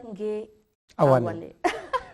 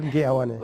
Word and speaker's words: Ngue-Awane: So he's going to pronounce his name alone. Ngue-Awane. Ngue-Awane.